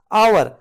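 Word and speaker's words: hour: start हो रहा है आवर आ आ जो है वह वावल साउंड है एच यहां पे साइलेंट रहता है ठीक है तभी आवर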